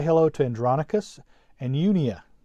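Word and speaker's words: Junia: hello to andronicus and yunia you may want to pronounce that j like a j and so the y sound the greek has the y sound unia my relatives and fellow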